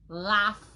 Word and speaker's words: Ralph: His name is Ralph. R-A-L-P-H. Thank you. Fix that for me next time. R-A-L-P-H. Please say his name. Say after me. Repeat. Ralph. Ralph. Ralph. Ralph. Ralph. Ralph. Ralph. Ralph. C'est pas Ralph. What do you do with the L?